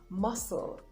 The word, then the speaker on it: muscle: debt sub 2 doubts the letter c is silent after the letter s in words like muscle now muscle is very